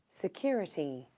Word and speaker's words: security: So it's the second syllable of the 4-syllable word.